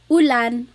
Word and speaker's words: ulan: So ulan, upuan, rain and chair, u. Not like under or umbrella.